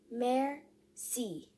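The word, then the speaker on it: merci: in french it's mercy you say it like this mayor c that evening i tell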